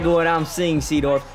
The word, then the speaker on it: Seedorf: like what i'm seeing sea dwarf am i even saying his name wrong clarence sadorf i'm pretty sure it's pronounced seadorf right look at that run